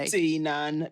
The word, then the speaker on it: Deignan: Deignan. The G is silent.